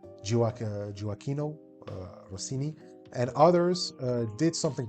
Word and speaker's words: Gioacchino: So fast forward to the 18th and 19th century, gifted musicians like Mozart, Carl Maria von Weber, Giacchino Rossini, I think that's how it is pronounced, Gioacchino Rossini, and others did something peculiar.